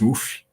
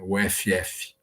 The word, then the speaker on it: UFF: Universidade Federal Fluminense né UFF né então nós pronunciamos uf né E então dessa forma que falamos né uf Tá mas para muitas